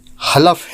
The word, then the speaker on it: حلف: کا لفظ حلف ہے، جسے عام طور سے لوگ حلف بولتے ہیں، جو غلط ہے۔ درست تلفظ حلف ہے، جس کے معنی ہیں